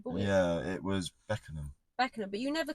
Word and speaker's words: Beckenham: Yeah, it was Beckenham. Beckenham, but you never called it Beckenham. Yeah. You called it something else. What did you say? Beckenham. I think I pronounced Beckham or something.